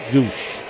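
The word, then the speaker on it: Gwodz: G W O D Z pronounced Guush.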